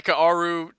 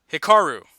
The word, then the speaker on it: Hikaru: you got this hi Kaoru Cheeta pretty good I think you got the last name but I'm pretty sure you butcher the first name Hikaru there we go the